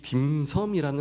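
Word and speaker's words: 點心: 메뉴들인데 그런데 재미있는 것은이 짐섬이라는 말이요. 우리나라 말로 하면은 점을 마음에 찍다. 그래서이 점심 점심이 되는 것입니다. 같은 한자입니다. 그런데 홍콩 발음으로는 짐섬이 되는 거고 우리나라 발음으로는 점심이 되는 것이죠.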